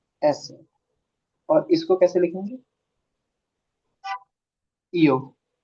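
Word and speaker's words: ß: इस beta symbol को कैसे प्रोनाउंस करेंगे? एस सेट। एस सेट।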